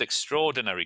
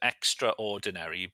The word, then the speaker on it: extraordinary: And also some people pronounce it extraordinary but if you heard me say it I said extraordinary. Extraordinary. So I leave the A off.